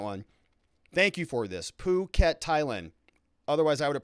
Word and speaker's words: Phuket: Phuket, Thailand. Otherwise, I would have pronounced it inappropriately.